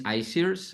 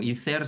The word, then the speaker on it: ICEERS: professional work mostly in two organizations one is isers uh or ether it depends of how you pronounce it but it's um a foundation originally